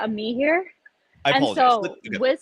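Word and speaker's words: Amihere: Her name is Leticia Amir. Did I pronounce that name correct? So it's Leticia Ami here.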